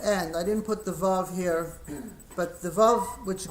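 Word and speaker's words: ו: Now, there is a vav. The vav we pronounce va, and so we pronounce this also va as well.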